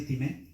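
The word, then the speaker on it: τιμή: Es del griego time, como time, más bien así time, con acento en la al final lo puede poner.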